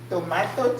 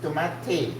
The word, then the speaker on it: tomate: Tomato cherry. That's how they say it here. Tomato cherry. It's tomate. That's what they say. Tomatoes. Tommate, not tomato.